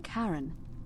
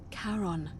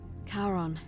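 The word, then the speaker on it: Charon: is a little off the name you heard wasn't Karen it was c h a r o n as in karon the Fairman of the Dead karon who in ex change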